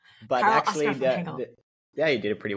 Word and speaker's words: Karel-Oscar van Hengel: You say Karel-Oscar van Hengel, but Karel-Oscar van Hengel.